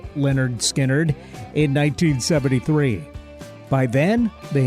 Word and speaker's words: Lynyrd Skynyrd: 1968 the band released its first album called pronounced Leonard skinnard in 1973 by then they had settled on